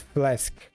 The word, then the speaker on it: flesk: with how you use flesk that nearly sounded perfect yeah because AE I think it's f you know you pronounce it as flask AE same um same thing